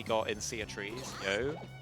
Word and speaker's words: You: So, um I completely glossed over it, but the part that we got in Sea of Trees, Yo, um which is spelled like the English pronoun you.